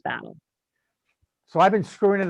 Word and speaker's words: Battel: It's spelled Battel. It's pronounced Battle.